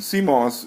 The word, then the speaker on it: CMOS: counter chip the Coss the classic Coss and Coss is pronounced like moss from the sea but it